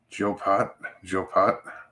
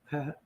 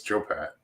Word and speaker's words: Joe Pat: How do you pronounce that? Joe Pot? Pat. Oh, Pat. Oh, because I'm seeing it looked like there was an asterisk. It's a shadow, so it's Joe Pat.